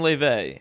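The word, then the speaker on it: Laufey: The most commonly memed on artists being Clairo, who's the GOAT, I can't lie, and Leve, whose pronunciation of her name I totally didn't have to Google.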